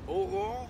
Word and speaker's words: Aurore: I'm here with Aurore. Yes. Am I saying it right? Yeah, You perfectly. can tell me the truth. Aurore?